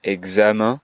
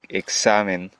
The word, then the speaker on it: examen: En vez de decir examen, Exacto. hay que pronunciar solamente una S, examen.